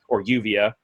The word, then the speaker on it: Juvia: loves is Gray and Juvia, Uvia. Is how you're really supposed to say her name, and she loves him, but he's like you'll find out what a Sundare's Zumbi's like.